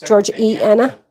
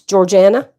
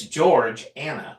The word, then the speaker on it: Georgiana: Like, we want to say E Anna. Yeah, we want to pronounce George E Anna. Yeah. It's Georgiana. Yeah, but it's George Anna.